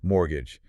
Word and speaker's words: mortgage: And then mortgage, they explain it's a specific loan for property, right? And they mention the silent t, which is a practical pronunciation tip.